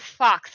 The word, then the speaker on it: Foxe: some good quotes from, it is Fox, right? Fox, even though it's spelled Foxe.